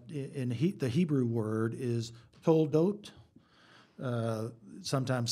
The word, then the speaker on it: Toledot: There's a whole series of what in the Hebrew word is Toldot, sometimes spelled Toledot, and sometimes the same with an H on the end, to be pronounced as a hard T, which is literally the generations of.